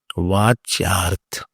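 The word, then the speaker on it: vācyārtha: So this is called Vatsyarth. Not Vatsyarth, not Varchyarth. Vatsyarth. Therefore I say, please pronounce loudly. This way, if some tongue will open up. Vachyarth.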